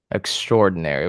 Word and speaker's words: extraordinary: Extraordinary. We kind of skip on that A right there.